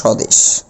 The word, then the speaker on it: স্বদেশ: এরকম উচ্চারণটা এরকম হবে সদেশ। অর্থাৎ ব এর এখানে কোন কাজ নেই। যদিও এখানে বফলা রয়েছিল বর এখানে কোন উচ্চারিত হবে না। এটি হল সঠিক উচ্চারণ স্বদেশ।